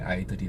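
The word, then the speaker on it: idol: 영어 일어 올라가 영어에 아이들이 는 겁니다 아이돌 발음은 아이돌이 아니죠 아이들 되겠죠 어쨌다나 프랑스의 스피커는 에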